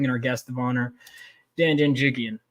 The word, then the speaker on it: Janjigian: Let's bring in our guest of honor, Janjigian. How you doing? Did I pronounce that correctly, by the way?